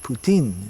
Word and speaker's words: Putin: Putin in rat poo poutine poutine poutine is the Russian pronunciation in Russia and Modi